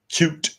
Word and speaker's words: Qt: But if we just left it at Qt, or cute, as I've heard it pronounced as well, it might not be obvious when we needed it to be.